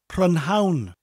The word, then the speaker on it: prynhawn: In his English class, he is learning all about pronouns, but he can't get the pronunciation right. He keeps saying prynhawn, but he's feeling good about it.